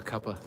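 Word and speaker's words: cuppa: I love that you said I'm partial to a cupa. That's how they say it in the UK. If you get a tea, it's a cup of a cup. Cuz it's a cup of tea.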